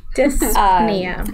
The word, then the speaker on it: dyspnea: Someone could write in the comments how you pronounce that. That would be dyspnea.